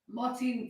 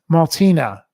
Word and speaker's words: Martina: No, you have to say her name. Martine Fox. Martina. Martina. Yes.